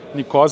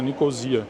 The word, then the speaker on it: Nicosia: vai entrar ali aliás eu falei nicó mas na verdade a maioria das pessoas fala pronuncia né nicosia Aqui tem um e